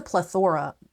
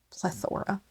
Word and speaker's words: plethora: books now there's a plethora plethora you put the wrong emphasis on the wrong cabel there is a plethora